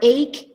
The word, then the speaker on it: ache: CH like in chocolate but in the word ache it's pronounced as K again so this is the